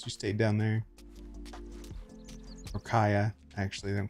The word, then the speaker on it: Kaja: Or Kaya, actually. They don't call her Kaija. It's Kaya. J is silent for some reason.